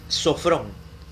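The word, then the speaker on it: σώφρων: Sobrio, la palabra sobrio en el griego, apúntelo, sobrio es sofrón, más fácil de pronunciar, sofrón. Se escribe S-O-F-R-O-N, S-O-F-R-O-N, sofrón, sofrón.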